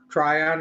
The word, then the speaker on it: Tryon: wine, your company is Tryon, is that Tryon? How do you pronounce that? Yeah. Try on, yep.